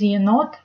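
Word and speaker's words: енот: E, as used in the end word, is pronounced softer as ye. An example of Russian word with ye is yenot.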